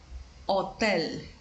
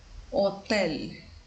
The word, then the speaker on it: hotel: is akka akka and this letter is mute we don't pronounce it for example Hotel we don't say this letter until Hotel this letter akka doesn't